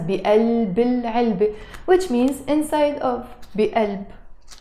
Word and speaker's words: بقلب العلبة: But sometimes we can also say القلم بقلب, in the heart of, بقلب العلبة, pronounced with a liaison as بقلب العلبة, which means inside of, بقلب, simply.